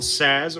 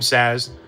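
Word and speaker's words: Sazh: So, we get good old Saz or Saw, whichever way you want to pronounce it from Final Fantasy 13. I like to call him Saz.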